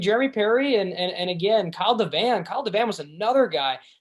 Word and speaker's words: Devan: you might have to check me on the pronunciation. Is it Devon? Kyle Devon? Oh, Kyle Devan.